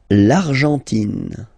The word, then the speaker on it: l'Argentine: L'Argentine. Okay, so you've got this nasal here, en, l'argent, and then tin. Don't pronounce the final E, it just gives you the pronunciation of the N.